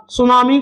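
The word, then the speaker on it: tsunami: वो करेक्ट हो जाएगा सुनामी को अंग्रेजी में टी से स्टार्ट होती है इसकी मीनिंग टी से स्टार्ट होती है सुना मी ये इसकी स्पेलिंग होती है एस से नहीं होती टी से होती है यह भी आपको ध्यान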